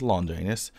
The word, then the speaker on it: Longinus: Okay, Spirit Longinus, excuse me, that's, if you didn't know, the correct pronunciation is Longinus.